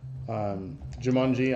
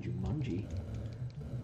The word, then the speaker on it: Jumanji: Why are you saying it weird? What? You're saying Jumanji. Well, how do you say it? Like there's a U. It's Jumanji. Jumanji. With Jumanji. An A. Jumanji. Jumanji. Like from under.